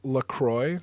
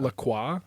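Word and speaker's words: LaCroix: you know it's actually lacroy not laqua yeah like it is pronounced like it's trademarked as lacroy because it's not French it's from Lacrosse Wisconsin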